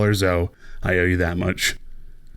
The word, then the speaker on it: Zoe: If Riot wanted Zoe to have 2 syllables, they could have spelt her name 2 ways.